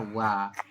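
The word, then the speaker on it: ㅘ: O dengan A dibaca. wo, Nah, dibacanya wa.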